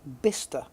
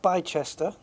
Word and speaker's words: Bicester: chat it's that and apparently it's pronounced bister not B Chester like or Le or